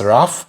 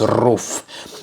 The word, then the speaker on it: RUF: but the car itself it's roof I don't know if I am calling it correctly some would say it's rough but in German it's roof yeah because this is